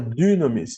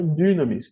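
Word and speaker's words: δύναμις: Então, qual a maneira correta de pronunciar a palavra dunamis? Não é dunamis, tá?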